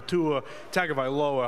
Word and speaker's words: Tua Tagovailoa: quarterback in the NFL who changed their style, Tua Tagovailoa. Hopefully I just pronounced that right.